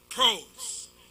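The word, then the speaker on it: πρός: Some say pros, some say pros. Very few say pros, but that's not how it's said in the Greek. Pros.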